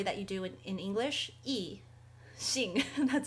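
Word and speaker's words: 一: word for one is e which is pretty obvious because it's only one horizontal line and it's usually first tone e is first tone tone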